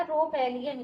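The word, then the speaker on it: rhopalium: इसको हम एक और नाम से जानते हैं, रोपेलियम, या रोपेलियम इसे कहते हैं। यहाँ ये साइलेंट होता है।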